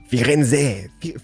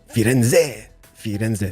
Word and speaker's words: Firenze: Firenze, doesn't matter, you know, we should kind of pronounce the Z. I think it's gonna be Firenze, si.